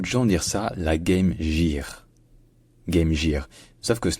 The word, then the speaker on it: Game Gear: Donc ce n'est pas Game Gear en anglais, c'est Game Gear. Game Gear. Et donc si on veut franciser ça quand même, parce qu'on a le droit, si on veut prononcer ça de manière un peu francisée, on peut dire Game Gear.